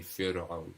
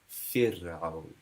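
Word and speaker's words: فرعون: It won't be fir'aun, it'll be fir'aun.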